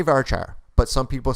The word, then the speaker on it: varchar: now let's talk about varchar or vercare depending on your dialect i say varchar but some people say vera care that's fine rhymes with care bear right so here what